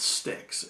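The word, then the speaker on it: stichs: those parts are called sticks s TI CH s pronounced like a you know stick off a tree but let's so for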